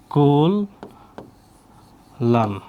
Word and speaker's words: কল্যাণ: হ্যা অনেক পরীক্ষায় আসছে কল্যাণ উচ্চারণ হবে কি কল লান কল্যাণ এরপর দেখো ও